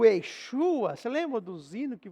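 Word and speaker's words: ישוע: então venha comigo Então a maneira que se pronuncia a palavra Jesus ao hebraico é Yeshua Então como você está falando Yeshua você tá pronunciando Jesus no hebraico também temos na Bíblia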